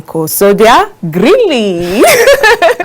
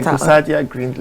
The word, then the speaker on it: Gusadia Greenlee: He's none other than Sodia Greenlee. I hope I got that right. You tried, but it's okay. Do you want to pronounce this for better? Gusadia Greenlee. Okay, Gusadia Greenlee.